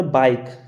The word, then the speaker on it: bike: Word के last में अगर आपको कहीं भी ई दिखे तो वहाँ पर हम ई का उच्चारण नहीं करेंगे या नहीं करते। जैसे लिखा हमने बाइक, BIKE, के बाद में ई आया, बाइक।